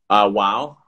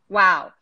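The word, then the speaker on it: WOAW: Wow. Wow. So it's W-O-A-W, which is World of Amazing Wonders.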